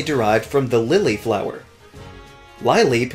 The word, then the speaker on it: Lileep: Lileep makes it sound like it's a lying ballerina. And just like Snorunt, its species name is the Sea Lily Pokémon, so why not pronounce it that way in the name as well?